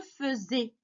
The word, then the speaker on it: faisais: verbe faire parce que la conjugaison, ça s'écrit avec AI. D'accord? F-A-I. Ça veut dire, normalement, on doit lire fait. Mais ça se lit feu. D'accord? Je faisais.